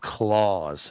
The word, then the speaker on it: Claus: It's pronounced claws, and it's got its claws in her.